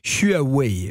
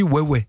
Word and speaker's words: Huawei: Sur la publicité, les publicités, il est écrit, si je le fais phonétiquement, Huawei. Mais en fait on dit Huawei.